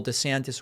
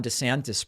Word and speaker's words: DeSantis: interesting I'm gonna also a few years ago Ron DeSantis pronounced his name Ron DeSantis which I find strange to change how you say your name at age 40.